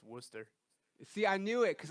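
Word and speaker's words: Worcester: do you pronounce it Wooster but it's spelled like Worchester it is right okay that's not yester okay a British pronunciation okay that makes sense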